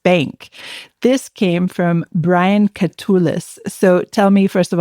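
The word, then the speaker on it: Katulis: This came from Brian Culis. So tell me first of all, did I pronounce his last name properly?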